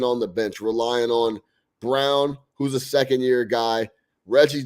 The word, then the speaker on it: Braun: I want to make sure it's Brown. It's Brown like B-R-O-W-N, but it's spelled Braun.